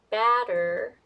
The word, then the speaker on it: batter: actually really different so for this one batter The Vow is this one the symbol is this one is between a and a looks like it and it actually sounds kind of like between the a and a a so how to do it is you want to make your mouth kind of triangle shape and then move your lips sideways and move it like open your mouth so you make triangle shape and make sure that